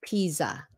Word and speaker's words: Pisa: Không phải là pizza. Pizza. But this is Pisa. I'm just making a point about peas. Leaning Tower of Pisa. Nhớ Pisa.